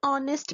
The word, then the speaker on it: honest: For example, an honest man. Honest is a word that starts with H, but in that word H is silent, so the sound is of vowel.